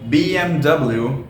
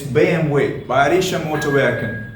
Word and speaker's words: BMW: Germans when we call BMW the car BMW is because it's not BMW it's Bay M way it's bam way right it's not BMW alright guys let's move